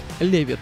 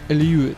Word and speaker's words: Lewitt: компании илью и которая если читать по буквам будет звучать как левит но правильно оно произносится как льюис как пишет сама компания